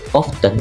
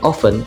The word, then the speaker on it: often: which is often both often and often are acceptable pronunciations historically often was pronounced with t with a t with a then without and now both ways are correct phonetic alphabet the International